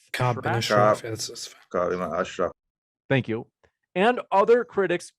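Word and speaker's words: Ka'b ibn al-Ashraf: Cameron Hall says the killing of, let me know if I mispronounce, Kabi bin al-Shraf. Ka'b bin Ashraf.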